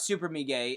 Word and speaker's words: Super Mega: and don't already watch Super Me Gay, first of all, go check out Super Me Gay, and that's Super Mega. I'll say it correctly, Super Mega, so you type it in right.